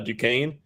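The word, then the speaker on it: Duquesne: Uh you were on the beach in episode five and Cody and I mispronounced uh Dukane. Uh we said Ducks.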